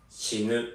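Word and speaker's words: 死ぬ: C'est pas shinu. Shinu, c'est mourir. Pourquoi vous voulez apprendre un truc pareil? C'est pas drôle. Shinu. Shinu. Shinu. Shinu. Shinu. Ah, merci. Shinu.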